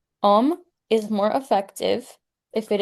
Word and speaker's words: Om: American South, the long O is sometimes pronounced as a dip diplog, like two vowels jammed together, either like I, Oo, or eo. This is not cor this is not the correct manner of pronouncing the O, which should be a single pure vowel sound.